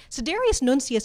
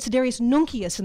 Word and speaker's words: Sidereus Nuncius: is kind of funny Siderius nuncius is probably how he would have said it medieval Latin had sort of a soft sir I actually studied strangely enough classical conversational Latin and I tells you how much of a geek I am and we would have said Siderius nokia sin the classical pronunciation so I may I